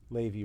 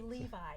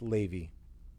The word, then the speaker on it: Levy: levy levy levy rhymes with baby i find people have a hard time pronouncing that for some reason yeah they say levi and it's not levi spelled levi pronounce levy very good good to